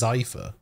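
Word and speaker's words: Xipha: The hollow from your Zypha. Oh, that's how you pronounce that. It is Zypha.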